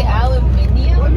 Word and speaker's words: aluminium: I never knew this, but I guess North Americans and Europeans spell and pronounce aluminum differently. You say aluminium, but you're adding an I. No, you guys drop an I.